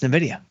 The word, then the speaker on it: Nvidia: right from I want it's Nidia and that makes sense to me because that is the right way to say it from the beginning but